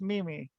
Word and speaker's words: Meme: So if anyone needs to know how to spell it, but it's pronounced Mimi, which is what I thought those were called.